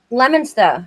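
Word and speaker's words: Leominster: He's from a place called Leo Minster or Leamsminster. I don't know how you pronounce it. I don't know if you know where that is. S Lemonster.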